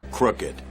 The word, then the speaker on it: crooked: 발음은 crooked다. 이렇게 정리해 주시면 좋겠네요. crooked, crooked, crooked.